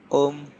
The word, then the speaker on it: Ohm: Ini dibacanya Om.